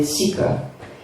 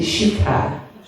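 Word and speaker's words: शिखा: having this haircut generally everyone calls it zika but it's actually chica we say Brahmin of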